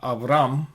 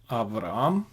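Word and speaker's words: אַבְרָם: Velo ikare od et shimcha Avram, vehaya shimcha Avraham, ki av hamon goim netatika.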